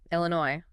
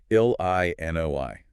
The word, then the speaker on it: Illinois: Illinois. Another silent S at the end. Yes, another French legacy. 3 syllables, and the stress is on the final one. Illinois.